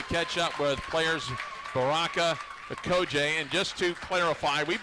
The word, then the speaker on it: Okojie: Okojie. I know it looks a little different, but it's just Okojie.